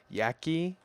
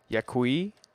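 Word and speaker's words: Yaqui: how to pronounce this how do you pronounce y-a-q-u-i yaki yakui i'm looking it up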